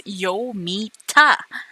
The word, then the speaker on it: Yomita: Lumita, right? Yeah. What happened to How could Lumita? you not pronounce it? It's Yomita. Wait, isn't it with an L?